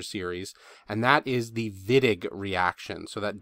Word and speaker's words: Wittig: some weird terminology here the wittig with a v and then illid with